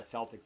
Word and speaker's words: Celtics: with that too then Boston Celtics Celtic is the proper pronunciation of it but obviously it's never been the case they were down three